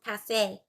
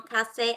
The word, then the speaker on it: café: Avec qui est-ce que tu prends un café? Je prends un café avec des collègues.